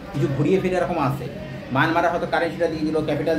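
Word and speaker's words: Myint: kyat সবকটাই মোটামুটি কিছু ঘুরিয়ে ফিরে এরকম আছে মানমারা হয়তো কারেন্সিটা দিয়ে দিল ক্যাপিটাল দিয়ে দিল এরকম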